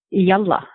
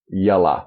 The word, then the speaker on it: Yalla: It's a word that means let's go, or come on, or okay, or pretty much anything. And pronounce it Very again. Very versatile word. Yalla. Yalla. Y-A-L-L-A.